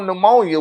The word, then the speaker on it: pneumonia: yo, why do they spell pneumonia with a P? Why is it a P in front of there and it's not making no noise?